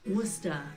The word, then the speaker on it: Worcester: But Worcester, Massachusetts, with a population of 207,000, pretty much has the same pronunciation. In fact, with this being Massachusetts, many locals even leave off the R like we do in Britain. Worcester.